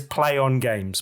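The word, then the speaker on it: Plaion Games: And I wasn't entirely sure how to pronounce their new name. I did check. It is Play On Games, basically.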